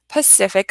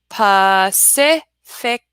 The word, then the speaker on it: Pacific: have where'd this phrase Pacific Ocean Pacific Ocean now you see that there are three seas in that there are three season that and all three seas make a different sound so not only do